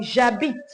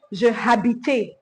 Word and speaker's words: j'habite: you live, you say j'habite. J'habite. Now, many English speakers will say je habite. That's not the right way to say it. You say j'habite.